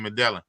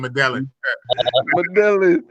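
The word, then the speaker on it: Medellín: Ace was in Medellin. Yeah. Hey, say that again. Ace in where? He was in Medellin, but nah. Man said Medellin. Yeah, Medellin. Yeah, I know Medellin. I said Medellin.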